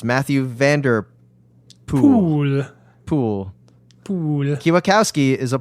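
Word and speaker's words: Mathieu van der Poel: Vander pol in the poll the OE is pronounced like the one and shoe so it's Matthew van der pool pool cue Bukowski is a pole and not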